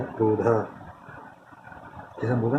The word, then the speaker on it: क्रोध: अब नॉर्मली हम जो हिंदी में बोलते हैं क्रोध या फिर क्रोध, ठीक है। लेकिन जो का उच्चारण बहुत ही छोटा किया जाता है यहाँ पर। प्रॉपर्ली से बोला जाए तो कहा जाएगा क्रोध।